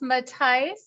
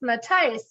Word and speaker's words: Matheis: many more um Frank matais that's matais uh our friend Frank is from Germany and it's pronounced matais which I just learned